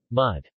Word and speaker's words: mùdh: U. As in put. Mud.